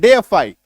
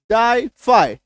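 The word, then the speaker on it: defy: की ट्रिक देखते हैं डे फई डे फई sounds like डाई फ्लाई डे फाई डाई फाई ये देखिए अगर इसको मान लो डी फी पढ़ते हैं डाई फाई है ना डाई फाई मतलब उच्चारण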